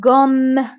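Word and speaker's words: gomme: فهنا كنقرا غوم غوم. فهنا مثلا الا عندي غير ام وحده فغنطق غوم غوم، ولكن حيت عندي دوزيام فكنقول غوم غوم، كنضغط على هاد الام.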